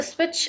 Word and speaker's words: switch: Turn the switch on. स्विच में हमारे पास है टी जिसके आवाज़ को हम बोलते नहीं हैं लेकिन इसको हम लिखते हैं.